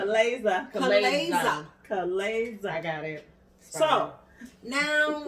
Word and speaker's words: chalaza: It's no longer sperm, but you have the correct Chalaza. pronunciation. Chalaza.